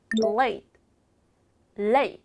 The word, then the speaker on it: late: 때 레이라 하지 않고 late late 읽어 볼까요 late late 야 너 늦었잖아 you late you are late 이런 식으로 티 발음은 살짝만 발음해 주셔야 됩니다 자 읽어 볼게요 너